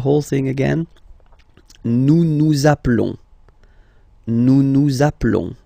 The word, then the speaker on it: appelons: Nous appelons, and then little link would be perfect, so let's pronounce the whole thing again. Nous nous appelons. Nous nous appelons. Okay, final S doesn't exist.